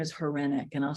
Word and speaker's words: Hryniuk: your listeners I mean my last name is horenic and I'll spell it and it's h-r-y n i u k